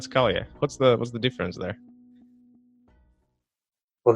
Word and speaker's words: Scalia: They call him Scalia, not Scalia. What's the difference there? Well, they're pronouncing it wrong.